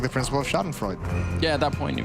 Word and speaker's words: Schadenfreude: The Schadenfreude. Yeah. Is that how you pronounce it? Yeah. You know, Schadenfreude. Yeah. Schadenfreude. Yeah. You gotta try and make it sound. The whole German twang.